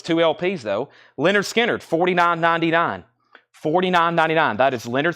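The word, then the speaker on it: Lynyrd Skynyrd: up at the top we have Leonard skinnard pronounced Leonard skinnard here's another this is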